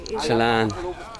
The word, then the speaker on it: Jalan: Jalan. They pronounce the J.